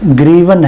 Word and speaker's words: hryvnia: है और उसकी करेंसी ग्रीवन है। वैसे अगर आप गूगल में सर्च करोगे तो उसका स्पेलिंग है HRYVNIA, लेकिन उसे प्रोनाउंस ग्रीवन करते हैं या ग्रीवना करते हैं।